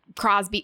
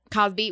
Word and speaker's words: Cosby: Kelly or Harvey Weinstein or Crosby. Like this is not that scenario. So it's not comparable at all. Cosby.